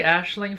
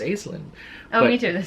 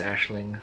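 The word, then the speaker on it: Aisling: book um fireboard by i'm going to say ashlane fowler because maybe that's how it's supposed to be pronounced i love the cover of this one too like i used to pronounce it like you know i see a name spelling this in my head it was aselin right but but i think it's ashling ashland or something like that they're about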